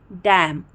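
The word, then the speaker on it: damn: तो एन में क्या है दोस्तों, किसी भी वर्ड में अगर एम और एन दोनों साथ में आते तो हम एन को प्रोनाउंस नहीं करते हैं, एन साइलेंट हो जाता है।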